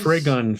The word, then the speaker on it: Trigun: an anthology thing with a guest artists it's pronounced Trigun Phil oh my God he should have spelled